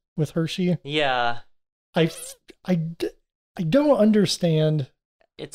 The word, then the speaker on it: Hershe: Hershey, which problem with that name too, because it's not spelled like Hershey's chocolate or anything. It says H-E-R-S-H-E.